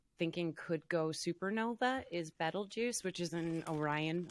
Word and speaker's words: Betelgeuse: One of the stars that we're thinking could go supernova is Betelgeuse, which is in Orion. A lot of people might know it as Betelgeuse. There's a bunch of different ways you can pronounce that.